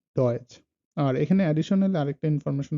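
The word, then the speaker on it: Deutsch: আর টিএসসিএইচ যেটার উচ্চারণ হলো সিএইচ, সিএইচ এর মতো, যেমন চ এর মতো, টিএসসে এটার উচ্চারণ হলো চ এর মতো, যেমন ডয়েচ।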